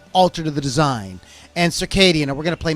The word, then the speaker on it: SERKEIDIAN: I'm thinking like circadian, like your circadian rhythms.